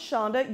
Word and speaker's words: Sandhya: and Matt said my response would be it's pronounced Shonda you'll love her she'll be arriving on such